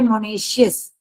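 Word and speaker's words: monoecious: हो तो उसे कहते हैं मोनेशियस प्लांट इसको प्रोनाउंस करते हैं मोनेशियस and this is डशियस okay बच्चे बहुत सारे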